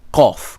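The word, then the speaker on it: Qof: because it resembles it, is much stronger than Kaf and is pronounced farther back at the back of the palate. It must not be pronounced like Ku. So, Kof.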